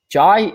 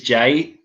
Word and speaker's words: Jai: said that I am happy without Hobbes defensively jai jai jai field had a it's Jay what flew into it no it's Jay it is Jay it's spell joy but it's pronounced Jay spoiler